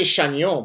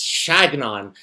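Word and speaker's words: Chagnon: Uh, with his whole uh I say Shaon, but apparently he doesn't like when you pronounce it the French way. He likes he likes Shagnon.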